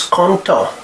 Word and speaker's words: content: The fourth adjective is content. Content. You don't pronounce T, it is in this masculine form singular.